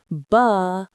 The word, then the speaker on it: balloons: Balloons. The stress is on the second syllable, which you hold a little longer. Loons. Balloons.